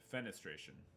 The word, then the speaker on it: fenestration: word of the day fenestration word of tomorrow but what's what's fenestration it's so it's sort of it sort of rhymes with defecation okay i said demonstration